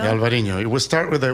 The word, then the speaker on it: Alvarinho: Um I don't want to uh mispronounce Basto Tanat um Alberino. Alvarino. It will start with a with a white wine. Yeah. It's u this is Alvarinho.